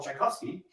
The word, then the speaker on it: Tchaikovsky: Utah yeah in English the great composer we call Tchaikovsky and we spell it TCH and the great writer check off we sell CH but in Russian is the same sound that's because Chekhov came